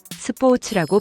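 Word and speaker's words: スポーツ: 스포워츠라고 발음합니다. 뽀가 반타금이며 오는 장음으로 발음됩니다. 츠 발음도 한국어의 츠보다 좀 더 짧고 경쾌하게 발음하는 것이 중요합니다.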